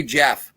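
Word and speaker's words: Geoff: with a g jeff it is g-e-o-f-f that is how i say jeff j-e-f-f g-e-o-f-f okay i'm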